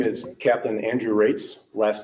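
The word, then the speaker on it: Raatz: in at home my name is Captain Andrew rates last name is spelled ra a a TZ and I'm the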